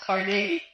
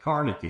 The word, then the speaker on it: Carnegie: it's carne that's how that's how pronounce carne in Pittsburgh it's not Cary it's car well we'll stop with that because I I pronounce it Carnegie you know so um